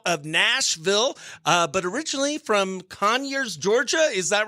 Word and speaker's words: Conyers: And it is Cole Bradford, country musician, currently out of Nashville, but originally from Conyers, Georgia. Is that right? Did I pronounce that right?